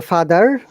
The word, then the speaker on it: father: Americans will say father with R. So father, yeah, father. father, father, Yes. Once again, no R sound of these words in British pronunciation.